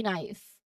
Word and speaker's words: knife: If you are expecting to hear a K sound at the beginning because it is spelled KNIFE, it can be confusing, like K knife instead of knife. But once you know that K is silent, your brain can process